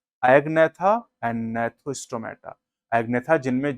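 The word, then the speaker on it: Gnathostomata: जी silent है नेथोस्टोमेटा करेंगे।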